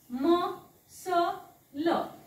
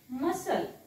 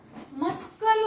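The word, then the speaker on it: muscle: शकता हा होतो बघा म स ल मसल मसल मस्कल वाचायचा नाही कल नाही मसल मसल सी is silent कारण तो एस च्या नंतर आलेला आहे देन नेक्स्ट लेटर बघूया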